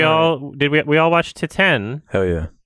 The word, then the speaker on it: Titane: did we all watched titan oh yeah is that how you say it to 10 yes well because it's a french title that translates to titanium